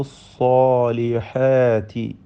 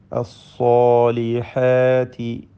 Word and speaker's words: الصالحات: ലഫീ ഖുസ്ർ ഇല്ലല്ലദീന ആമനു വഅമിലു സ്സാലിഹാത്തി. ഇതിൽ സ്സാലിഹാത്തി എന്ന് പറയുമ്പോൾ സ്വാദിന് തഫ്ഖീം നൽകണം, പെരുപ്പിച്ച് ഉച്ചരിക്കേണ്ടതാണ്. സ്വാദിനും അതിൻ്റെ ദീർഘാക്ഷരമായ അലിഫിനും. എന്നാൽ അതിൻ്റെ മുമ്പും ശേഷവുമുള്ള മറ്റക്ഷരങ്ങൾക്കൊന്നും തഫ്ഖീം വരുന്നില്ല. അസ്സാലിഹാത്തി.